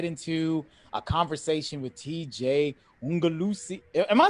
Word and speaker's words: Ogunlusi: I feel like I've always said Ogunlusi art though. You've been saying it right.